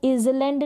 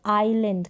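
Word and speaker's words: island: चलिए नेक्स्ट देखें, इसको इजलैंड नहीं पढ़ेंगे, इसको पढ़ेंगे आइलैंड। क्या पढ़ेंगे, आइलैंड। यहाँ पर जो है एस क्या है, साइलेंट है, एस को हम प्रोनाउंस नहीं करेंगे।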